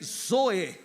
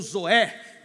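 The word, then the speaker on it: ζωή: A expressão vida que Jesus usa no texto é zoe ou zoé, dependendo da pronúncia.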